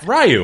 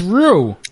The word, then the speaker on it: Ryu: character ryu i do i do you ryu it's rue oh that guy you mean rice you is silent guys this is raiichi actually